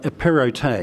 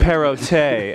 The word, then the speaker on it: Perrottet: Perrottet is the one. Perrottet, excellent. Well, you're an Australian guy and you have the T silent, so it's a it's confusing.